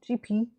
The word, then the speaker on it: Gipi: I've read a bunch of um I'm going to pronounce it J GP according to the internet pronunciation GP I have read a